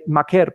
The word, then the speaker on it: Maker: But I think Maker Maker, sorry we have to pronounce pronounce his name right, is better at that than than Wilson is.